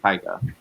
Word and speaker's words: Taika: you do not know when i said taka you knew i meant taika i did but there's